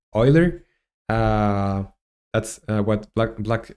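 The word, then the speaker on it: Euler: log uh this is going to be Oiler Oiler angles or eer angles it's uh WR e it's WR written eer but is pronounced Oiler uh that's what black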